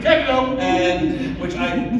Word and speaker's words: DiCandido: On some occasions like this, I have to say one very important thing, which is that it's pronounced DiCandido. DiCandido!